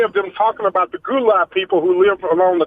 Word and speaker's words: Gullah: Gullah or Gula is the way it's pronounced.